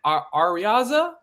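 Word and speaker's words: Araiza: I believe it's Matt Arriaza, is how you pronounce it. Yeah, Arriaza is how I believe how I you. thought it was Ariza or whatever.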